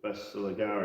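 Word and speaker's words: Bersaglieri: the Elite Force of Bestiligari or whatever they're called. I don't think you pronounce the G actually.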